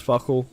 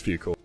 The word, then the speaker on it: Fukel: And Tall, we did think it was Fuckle to start with. We did have to get confirmation of how you say his name. You don't always know. But yeah, it is Fukel.